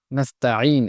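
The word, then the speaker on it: نستعين: নাস্তাঈন, এখানে অনেকে ভুলে নাস্ত বলে ফেলেন, এটা নাস্ত হবে না, নাস্তা হবে, নাস্তাঈন। এরপরে ইহদি, এখানে এই গোল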